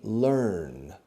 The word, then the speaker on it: learn: more you learn okay learn pronunciation earn burn turn okay so the more